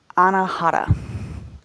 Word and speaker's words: Anahata: In Sanskrit, this is pronounced Anahata, heart chakra.